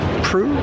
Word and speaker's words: Prue: Okay, we're still going down Renegade Row, and we're talking to Shay Prue? Rhymes with true and blue.